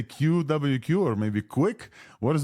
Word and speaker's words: QwQ: it in the blog it is just like the word Quil yeah yeah because for the qw you can like what and for the Q and you just like the U so I just combine it together and create a new pronunciation called quill yeah so we're saying